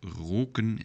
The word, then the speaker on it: roken: again because, for example, roken is not the same as rocken, so the pronunciation matters. Roken means to smoke, and rocken means skirt, so that's a plural of rock. So, and the same goes for zonen, suns, and zonnen, to sunbath, sunbathing. So, let's pronounce after me, roken and rocken.